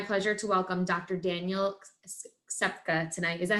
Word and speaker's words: Ksepka: Daniel Ksepka tonight.